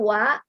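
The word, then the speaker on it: は: to be Ya ini partikel wa ditulis dengan huruf h i Oh ya ini hurufnya H tapi dibawa kalau sebagai partikel itu dibaca nyawa Jadi kalau contohnya Ini Watashi Ha ini dibaca watashiwa ya Kenapa kemudian ini nama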